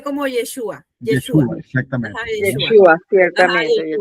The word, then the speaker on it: Yeshua: Yeshua, creo que si no me equivoco se pronuncia como Yeshua.